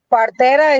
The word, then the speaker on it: partera: Partera is spelled Partera, partera.